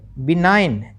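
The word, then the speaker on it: benign: बी इ एन आई जी एन बिनाइन। देखो दोनों चीजें लिखी हुई है। यह इसका प्रोन्सिएशन उच्चारण है और इसका मीनिंग है।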